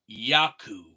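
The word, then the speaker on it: يعقوب: In Arabic, Jacob is pronounced Yaqub.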